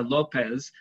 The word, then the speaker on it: López: One thing that I do is when I see a Spanish surname like Yolanda Lopez, I just have to put the accent on the O.